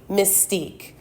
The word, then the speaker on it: Mystyk: My higher self, aka Mystique, which is spelled Mystyk.